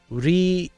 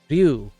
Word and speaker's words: Ryu: it into one sound, maybe start with doing it slowly. Make it single syllables. So, Ryu. Ryu. Ryu. Just try to like, Ryu. Ryu. Ryu. Ryu. Ryu. So, it's just about making it a little bit faster in between.